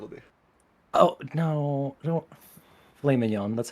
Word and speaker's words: filet mignon: Oh no, don't filet mignon.